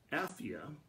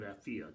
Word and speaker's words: Apphia: Apphia, and some may pronounce it a different way, but I'm going to call it Apphia tonight.